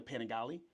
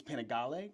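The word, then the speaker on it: Panigale: So I in America I say the Panagali. The Panagali. But it's Panagali.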